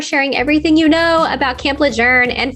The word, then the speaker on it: Lejeune: about camp lejour and for also teaching me the correct way to spell it I mean pronounce it because when Laura and I met before we recorded this I was like let's talk about Camp leun so we're all like